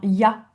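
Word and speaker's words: ja: Donc le J se prononce Y, comme dans ya, hein, ya, qui veut dire oui. Eh bien, vous avez J. Et on n'écrit pas ya, Y-A, hein, on écrit J-A.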